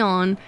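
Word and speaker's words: Aeon: Ah, I also say aonic. It's like I know they they have the a as being silent, but I always want to pronounce it a on, but we'll go with the on.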